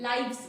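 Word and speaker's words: lives: लाइफ से नहीं बोलेंगे, लाइव्स बोलेंगे, लाइव वो।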